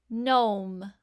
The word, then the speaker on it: gnome: to the letters making the M sound nah gnome Nat great now I'm going to show you